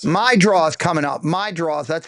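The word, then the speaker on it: Meidroth: My draws.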